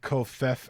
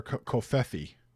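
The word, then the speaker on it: covfefe: I kind of like Kofef or Kofefi. I think it just kind of sounds fun, but you know. Kofefe rhymes with Pepe, you know.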